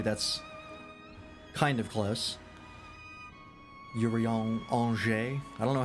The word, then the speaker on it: Urianger: I don't know how to phonetically pronounce or phonetically spell Angers. Anjay, I guess. Angers. It's an exceptionally soft J. Anger. Yuri Anger.